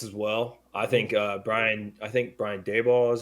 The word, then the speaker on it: Daboll: I think Brian Daboll is how you say his last name.